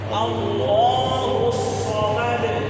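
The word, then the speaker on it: الصمد: এই আয়াত কুল হুয়াল্লাহু আহাদ কুল হুয়াল্লাহু আহাদ আল্লাহুস সামাদ আল্লাহুস সামাদ আগে সামাদ সজ্জবর সিনজবর আছে না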